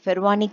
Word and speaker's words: Pervani: That is இங்க நம்ம pronounce பண்ண வேண்டியது ஃபெர்வானி அப்படின்னு சொல்லணும். So popularly known as the Fervani Committee.